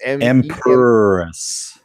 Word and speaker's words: Empress: So it's Empress. Empress. Like Catwoman talking in the 66 Batman.